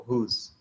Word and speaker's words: whose: Aí, quando você for ler o whose, você pode ler como se esse não existisse. Whose. Certo? Whose jacket? Whose jacket is this? Tá? Esse ezinho depois de S, ele tem um som mudo, que a gente não pronuncia.